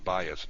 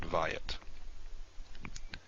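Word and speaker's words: בית: darkest line is there it's pronounced bias not vyat okay let's do another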